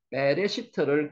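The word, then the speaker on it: בראשית: 그러더라도 일단 반복하면 되니까 베레 시트를 기억하시기 바랍니다 베레시트 글자 아까 이야기 드렸죠 점이 두 개 있으면은 에라고 읽는다 그랬죠 그래서 빼라고 했습니다 빼라고 읽었는 거는 여기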